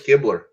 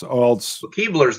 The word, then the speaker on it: Kibler: So that was Kibler. Is it? Maybe it's not. It's not the Kibler elves. Keebler's the elves. Keebler, yeah, it is Kibler. See, I got it right. Now I got it right. I thought I always knew it wasn't pronounced like the company. Yeah, he told me it is not the elf. You said it like the elf.